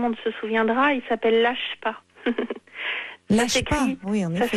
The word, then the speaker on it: LACHPA: Mais l'appel à projet qu'on lance, il a un nom très particulier dont tout le monde se souviendra, il s'appelle LACHPA. LACHPA, oui, en effet. Ça s'écrit L-A-C-H-P-A.